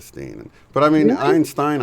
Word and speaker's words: Berenstain: Somebody said that they actually got in trouble for pronouncing it Stein instead of Steen.